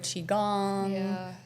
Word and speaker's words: qigong: We have group sessions weekly, like multiple times a week for all What is different qigong? things. That one's Qigong, actually. Qigong? Oh, Okay. Qigong. Sorry, Qigong. I said it wrong.